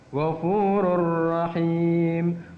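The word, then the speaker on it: غفور رحيم: bertemu dengan huruf ro, maka dibacanya tidak boleh dengung. Tanwunnya masuk pada ro. Ghafurur rahim, ghafurur rahim, tidak boleh ghafurur rahim, ada dengungnya, enggak boleh. Harus tanpa dengung.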